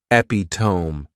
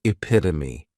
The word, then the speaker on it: epitome: catch 22 next is epitome and this noun has four syllables and the stress is on that second syllable epitome this is a word